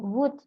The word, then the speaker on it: would: again and again eh pronunciation-nya itu kayak could gitu ya and then would so enggak pakai l enggak pakai l could would Could you would you